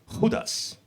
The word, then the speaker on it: Judas: that sounds bad is Judas cuz Judas sounds pretty cool in English but in Spanish it's hudas that's why I think